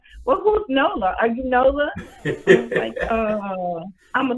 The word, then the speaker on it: Nola: is Nola Bayou bites I say Noble it's Nola I don't know why I said it wrong all the time a lot of people don't know that Nola if you're not from there or don't know that Nola is the new um n-o-l-a